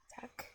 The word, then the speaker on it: tak: Tak.